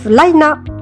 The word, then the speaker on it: Vlajina: En fait, ça se prononce Vlaina.